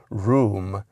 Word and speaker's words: Rome: So it's certainly plausible that Abigail might have pronounced it room instead of Rome.